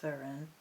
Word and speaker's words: Fearn: or verun it is spelled Fern but it's pronounced verun the meanings from the spirit of old booklet